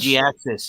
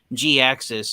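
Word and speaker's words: Jhiaxus: G-Axis. Yeah, that's his name is pronounced G-Axis. The H is silent, and you pronounce the I.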